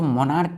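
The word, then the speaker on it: monarch: तो प्रस क्या है एम ओ एन ए के तो मोनार्क मोनार्क लास्ट में के पढ़ते हैं लेकिन लिखते हैं सी तो पहले तो यह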